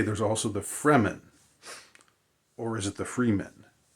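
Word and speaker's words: Fremen: it's f r m-n so it's sort of like free men but but they're the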